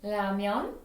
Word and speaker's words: 라면: I know when you go to store, they spell R. But I will never say R sound in Korean, says with ramen, ramen, ramen. 라면.